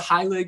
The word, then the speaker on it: Heilig: It could be Heilig, but Heilig is usually... Heilig, that's it. Honestly, it's also, if you're Jewish, then it's Heilig. Yes. So there's a bunch of ways to pronounce it. Anything works for me.